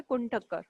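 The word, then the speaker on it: Kuhn-Tucker: क्या होता है, वो आपका नाम होता है कुंटक्कर, है ना। इसकी स्पेलिंग है आपकी KUHNTUCKER, ये आपके साइंटिस्ट का नाम है, ठीक है।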